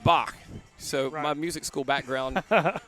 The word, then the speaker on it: Bach: Because all of our music instructors at Montevallo were like, no, you don't say Bach. It's Bach.